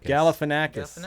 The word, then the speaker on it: Galifianakis: And Zach, how do you pronounce that last name? Galifianakis. Okay. He knows that Galifianakis.